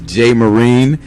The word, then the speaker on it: JMoreen: from understood alright alright so my name is Jay marine that's the brand you can find me on